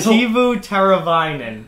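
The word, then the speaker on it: Teuvo Teräväinen: Tuvo Tervanian. All right, a little off there. Oh, now I can't say it. Shit. Tuvo Tervanian. You just told me that I can't pronounce it still. Tuvo Tervanian is how you say it.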